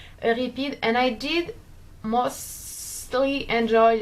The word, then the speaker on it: Euripides: Okay, you'll have to deal with the French pronunciation. Euripides, and I did mostly enjoy Les Caprices de Marianne d'Alfred de Musset.